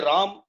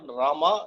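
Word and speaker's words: राम: When we say Ram, that's not the right pronunciation. Similarly, Rama is also not right, I feel. It is Rama. Neither Ram nor Rama, it is Rama.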